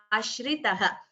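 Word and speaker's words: आश्रितः: And please note the pronunciation of this. It is Shri. So there's a difference here. It is Ashritah.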